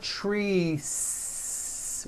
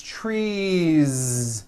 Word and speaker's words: trees: It's not trees with an unvoiced S. It's trees with that voiced ending.